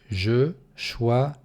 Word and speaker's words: Je choisirais: Опять ударение на последнюю гласную. Je choisirais.